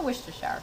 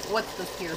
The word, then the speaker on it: Worcestershire: white pepper and the worcestershire socks my dad calls it what's the spear sauce that's how he was taught how to say it we'll just mix that